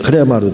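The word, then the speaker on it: ῥῆμα: 페이지 수로 206페이지 나가도록 하는데 제가 지금 14장 레마 부분에 말씀을 드렸지만 원어에는 흐레마로 되어 있고 레마는 영어식 발음이다 라고 말씀을 드렸죠.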